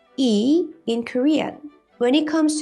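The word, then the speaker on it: 이: this Chinese character means plum tree and it's pronounced e in Korean when it comes to Korean given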